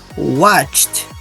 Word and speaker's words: watched: So in number 1, we said Mary watched Glee in bed till late at night. Watched. Okay, remember, as it ends with different, like with the D, we don't pronounce just like with a T.